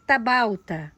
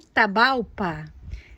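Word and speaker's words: Tapalpa: Aqui, gente, eu tenho a Echeveria tabalta. Olha que coisa mais linda. Ou tabalpa. Desculpa, gente, pronunciei errado. O nome dela é assim mesmo, tá?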